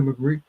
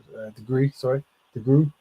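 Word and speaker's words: DeGruy: So basically, this is post-traumatic slave syndrome, and the sister is Joy McGree. I'm saying it wrong. Degree. There you go.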